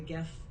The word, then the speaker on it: GIF: That is a good GIF. And listen to me. I'm saying GIF. I'm saying with a hard G now.